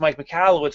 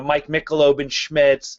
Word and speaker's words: Mike Michalowicz: and says you know his name is pronounced mike michalowicz but here's all the funny versions you know mike mickeloben schmitz mike mccalishitz that was a favorite in high school like all these different